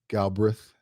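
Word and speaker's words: Galbreath: Um although JJ uh Galbreth, is that how you pronounce his last name?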